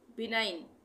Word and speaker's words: benign: अब हम चलते हैं आगे साइलेंट जी पर, साइलेंट जी, BENIGN, इसको हम क्या पढ़ेंगे, इसको हम क्या पढ़ेंगे, बिनाइन, बिनाइन, जी साइलेंट, बिनाइन, जी साइलेंट।